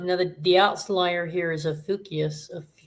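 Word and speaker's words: Ophiuchus: So every quarter or every three months you have now the outlier here is Aukius. A how do you say that? Aukius ofus.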